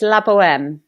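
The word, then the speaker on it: La Bohème: many different ways now how do you say the name of the production it's labm labm okay brilliant I'm I'm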